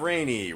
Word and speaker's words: Rainey: That was brought to you by Tav Rainey, rhymes with Lon Chaney.